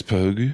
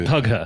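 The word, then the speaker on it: Pugh: and then the Florence pug yeah po I'm sorry I I think she you do hit the hard G with her yeah pug I thought it was P it's actually p yeah she should start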